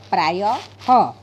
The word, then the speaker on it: प्रायः: प्रायः और विसर्ग के साथ में प्रायः। इन शब्दों का उच्चारण इस तरह होता है: अंतःकरण, प्रातःकाल, प्रायः।